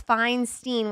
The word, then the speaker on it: Feinstein: Feinstein.